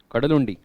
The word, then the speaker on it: Kadalundi: How is it pronounced? Kadalundi.